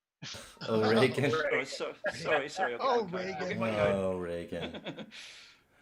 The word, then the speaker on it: Reagan: O'Regan? Reagan.